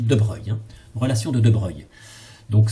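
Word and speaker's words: de Broglie: deux bras glissade après ça s'écrit mais on dit de breuil relation de de breuil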